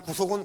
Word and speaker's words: 구속: 여러분 새고랑 차는 구속은 구속이고 요거는 좀 발음을요 제대로 알면 좀 길게 됩니다. 구속 이렇게 해야 됩니다.